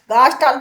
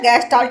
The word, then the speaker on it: Gestalt: गास्ट theory by match ठीक है ये हो गया हमारा गैस स्टार्ट गस्टाल्ट भी कह सकते है गैस स्टाल्ट भी कह सकते हैं जैसा जिसका उच्चारण हो उसी तरीके से बोल सकते हैं।